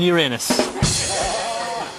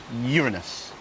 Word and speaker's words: Uranus: And it would appear he has no qualms about exploring Uranus. I think you'll find it's pronounced Uranus.